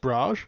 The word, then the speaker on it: Brahj: Is it pronounced Brahj? I just said it said as I read it. Yeah, no, that works.